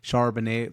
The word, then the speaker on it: Charbonnet: you already got uh Chardonnay is that you pronounce it charbonnet like like the wine but like with a B um he's already heard